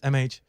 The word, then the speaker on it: M-Age: it image like image image my name is mh that didn't take long to get a clear